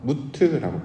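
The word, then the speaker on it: מות: 이렇게 끊어지고 단절되어서 영적인 변화를 나타낼 때 사용하는 단어가 죽음으로 번역된 단어, 무트라고 발음을 하는데 이 단어였습니다.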